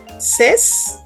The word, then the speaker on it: says: party charlot charlot says says remember the pronunciation is says sorry mhm he loves